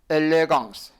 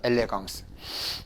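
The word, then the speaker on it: élégance: 아 n an 그렇죠 그 다음에 끝에 나오는 발음 없어요 이거는 쇠 그러면 같이 발음해 봐요 여기까지 읽으면은 엘레 그 다음에 이거는 다 같이 발음해보세요 엘레강스 이게 발음이에요 엘레강스 엘레강스라는 뜻은 우아하다 영어의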